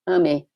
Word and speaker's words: AME: The Spiritist Medical Association, in Portuguese, is Associação Médico Espírita, and in Brazil, it's known by the acronym AME, pronounced AME, which means, in Portuguese, love.